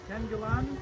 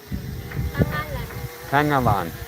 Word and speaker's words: Tangalan: Uh we're west of Kibbo near I always say it wrong. I want to say uh is it Tangalan? Tangala. Tangalan. Tangalan. Tangalan. Tangalan. Okay. Tangalan.